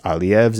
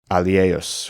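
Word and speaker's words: ἁλιεύς: But this is still a modern Greek pronunciation because it's alieus instead of alieos, which I think is how it could be taught as ancient Greek pronunciation.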